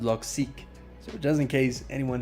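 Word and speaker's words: Logseq: to the creator and it's pronounced log seek so just in case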